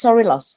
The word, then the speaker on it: Sorilos: So it's actually it's Sorilos, exactly.